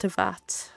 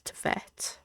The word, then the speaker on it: Teyvat: Oh, so it is pronounced Teyvat. I said that yesterday, but I thought it's Teyvat.